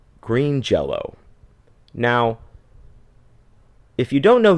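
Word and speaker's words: Jellÿ: to the word jello so they spelled the name differently they spelled it like green jelly with oom Lots over the EES because that's cool I guess and they still pronounced it jello so it was spelled differently they still said a jello it's a [ __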